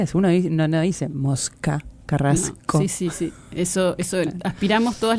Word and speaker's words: Carrasco: Dice, unos amigos mexicanos me hicieron notar que los uruguayos pronunciamos las SC como una J. Por ejemplo, la palabra carrasco. ¿Lo han notado? Es la aspirada. Es la S aspirada de mosca.